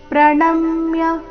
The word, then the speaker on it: ಪ್ರಣಮ್ಯ: ಜಯಹ ಪ್ರಣಮ್ಯ ಶಿರಸಾ ದೇವಂ ಪ್ರಣಮ್ಯ ನ ಮೇಲೆ ಆಘಾತ ಶಿರಸಾ ದೇವಂ ಇಲ್ಲಿ ಅನುಸ್ವಾರದ